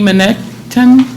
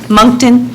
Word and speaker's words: Moncton: laughs uh Miss Jackie manekton did I pronounce it pardon me Moncton monkey Jackie Moncton okay um I I